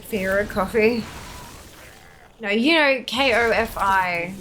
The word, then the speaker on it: Ko-fi: No, you know, K-O-F-I. Like, it's spelt like Ko-Fi, like lo-fi, Ko-Fi, yeah.